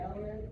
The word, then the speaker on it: LMNT: You said the element is powder? It's powder, yes, ma'am. How do you spell it again? LMNT. Yeah, it's kind of a weird name, right? It's like elements, right?